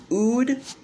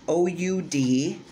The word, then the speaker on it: oud: it is basically an ood oil so an ood uh which is pronounced oud is from an ud